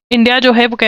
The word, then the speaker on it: coup: कू क्या होता है, COUP होता है, इसकी प्रोनाउंसिएशन कू होती है, पी साइलेंट होता है।